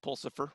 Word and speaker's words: Pulsifer: I think maybe what she's meaning, Catherine Pulsifer, rhymes with Lucifer, is that you wake